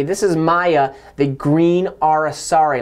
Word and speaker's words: aracari: is Maya the green are a sorry a lot of people don't know how to pronounce that it's ara sorry pretty interesting name they're